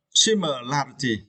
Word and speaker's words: similarity: Yeah, and you need to stress the third syllable, right?